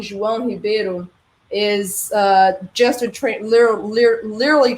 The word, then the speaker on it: João: say it, and because he goes for João, which has the A very open. Now, no, it's João. You go down with your A, as if you were rapping.